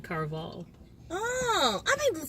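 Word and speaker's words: Caraval: I was saying Carnival too, but it's actually Carval.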